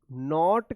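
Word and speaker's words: know: ओ डब्ल्यू यहां पे के जो है ना साइलेंट रहता है यहां पे के का उच्चारण नहीं होता है नो व्हाट टू डू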